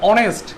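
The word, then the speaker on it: honest: Hour উচ্চারণে, আবার বলছে আওয়ার উচ্চারণে এখানে কিসের উচ্চারণ হচ্ছে, ভাওয়েলের উচ্চারণ হচ্ছে, ভাওয়েলের সাউন্ড হচ্ছে। ভাওয়েলের সাউন্ড থাকলে কি হয়, এন ব্যবহার করতে হয়। অনেস্ট, এই যে ওয়ার্ডটা ইউজ করলাম অনেস্ট, সরেও, অনেস্টের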